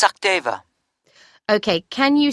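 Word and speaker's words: Sachdeva: It's Sakdeva. OK, can you spell that for me?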